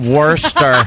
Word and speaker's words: Worcester: like worst no no I think that was Worcester Mass oh call it werster werster a very a very